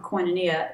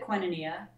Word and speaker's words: Koinonia: to high school when we moved away from koinonia it's pronounced quinnenia actually it's a funky weird name it's a greek word that means community but when we when we moved we lived at quinoneea from for a number of years but then